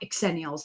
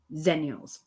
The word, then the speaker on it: xennials: And I like exennials, not zennials. Americans say zennials. I'm from the UK, there's an X in there, so it's exennials.